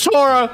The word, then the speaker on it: Chara: It's Chara.